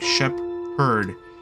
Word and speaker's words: shepherd: that way, and yet we pronounce it as like 2 separate words, like shepherd, instead of the usual typical English thing where it should have been called shepherd, because PH makes a f sound.